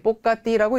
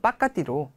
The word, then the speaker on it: ปกติ: 란니 이 가게 뽀까띠라고 읽어드렸지만 원어민 분들은 빠까띠로 또 많이 발음하시고요. 저는 그냥 뽀까띠로 발음했고요.